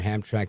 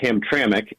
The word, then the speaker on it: Hamtramck: you so what's your thought about what mayor hamrak said in this controversy with President Trump yeah thank you it's actually pronounced Hamtramck and uh historically was a uh yeah historically